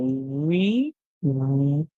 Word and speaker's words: reveal: When E and A come together, you can make many different sounds. However, in this one, we hear E, and the A is silent. So we hear reveal, reveal. The word is reveal.